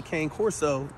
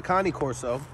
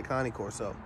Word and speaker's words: Cane Corso: them so unlike with the Cane Corso the Connie Corso uh came for you know American people pronounciated differently but it's really the Connie Corso you know you get